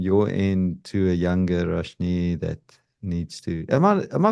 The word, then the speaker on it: Rashnee: And any final words from your end to a younger Rashnee that needs to? Am I pronouncing your name correctly?